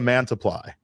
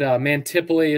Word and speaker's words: Mantiply: So when it comes to explaining how to, you know, say our name, we would always say it's like Multiply, but with, obviously, because we'll get Mantiply is a good one. Mantiply.